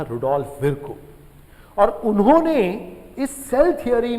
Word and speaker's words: Virchow: Rudolf विर्को, VIRCHOW, है ना, कुछ लोग विर्चो पढ़ते हैं बट विर्को इज the correct pronunciation.